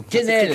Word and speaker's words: Quesnel: Vous habitez à Quesnel. Au Kennel. Comme Le ça. Kennel.